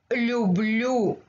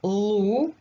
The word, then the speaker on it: люблю: Let's try to pronounce люблю. Люблю. It's not лу. It's not лью. It's лю. Лю. Лю. Люблю.